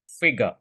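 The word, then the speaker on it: figure: आप स्क्रीन में एक वर्ड देख रहे हो फिगर फिगर फिगर राइट इसको आप सही से प्रोनंसिएशन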